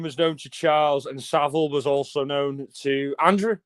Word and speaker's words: Savile: And Jimmy Savile was um a lot of Americans and Canadians call him Jimmy Seville because that's how we pronounce it, but uh it's it's